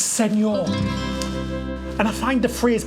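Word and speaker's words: señor: Check you out, senior. Actually, David, it's senor.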